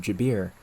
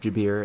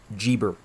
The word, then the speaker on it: Jabir: under the name of Geber as well, contributing to the pseudepigraphic tradition around him. But of course, they totally mispronounced his name, leading to a distinct pseudepigraphic tradition around the name Geber, which contains some of